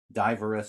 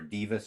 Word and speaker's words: Dives: And the chorus, and it's also known as the song, the carol of Diverus and Lazarus, or Divus and Lazarus, Dives and Lazarus. People pronounce the first name differently, but that's what Child called it, for example, in the Child Ballads book.